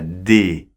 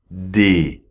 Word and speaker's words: des: se prononce comme ça d d ok avec le son et voyelles et on ne prononce pas le s final d'accords d ok sauf